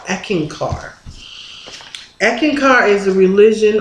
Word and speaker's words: Eckankar: so when I ran into this religion called eeken car and this is how it's spelled EC k a n k a r eeken car echin car is a religion on love and